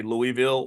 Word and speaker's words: Louisville: that you don't say Louisville or Louisville you say Louisville like you got to kind of like blur all the word blur the whole word together and kind of L Louisville it's got to come